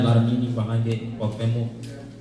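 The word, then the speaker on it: Cuauhtémoc: Cuauhtemoc.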